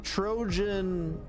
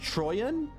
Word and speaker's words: Trojan: I've been pronouncing Trojan wrong this entire time? It's actually pronounced Troyan?